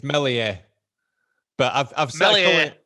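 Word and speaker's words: Meslier: defenders behind him but you don't pronounce the s cookie come on it's mellier but i've i've smelled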